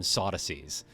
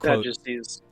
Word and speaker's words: Sadducees: entitled than the impious incredility of certain modern sodies who say that Sadducees.